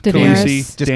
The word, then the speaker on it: Daenerys: Daenerys, Daenerys.